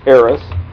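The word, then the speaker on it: Eris: of chaos and confusion and her name was AIS spelled e r i s and I said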